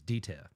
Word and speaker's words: Dieter: You have to pronounce it properly. It's Dita. Dita.